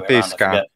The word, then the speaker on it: pesca: pointed out to me, you're pronouncing this word wrong because you're using the wrong e sound instead of e. It's supposed to be e. Dammi una pesca.